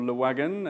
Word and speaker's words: Le Wagon: So a little bit about Le Wagon, or Le Wagon, as I pronounce it in English.